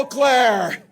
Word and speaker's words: Eau Claire: Hello, Eau Claire. Isn't it good to have a candidate who can pronounce the name correctly?